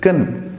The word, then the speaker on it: can: model verb in english ken is there is no vowel sound in between yeah if i tell you the pronunciation of c a n for a native speaker is kin just like sounds horrible